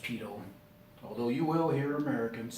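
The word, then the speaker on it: pitot: very familiar with it evidently that is also a French word TI t OT we would say T dot but it's pronounced pedo although you will hear Americans say P dot and basically what it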